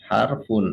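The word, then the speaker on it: حرف: gini J kalau bentuk eh singularnya ya bentuk tunggalnya itu harfun bacanya harfun Ya kalau eh kita mengatakan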